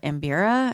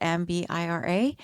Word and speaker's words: mbira: It's also, that instrument is also called mbira, is how I'm going to pronounce it, mbira.